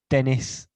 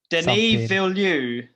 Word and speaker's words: Denis: have no idea how you say his name dennis denis that's the one he did played runner 2049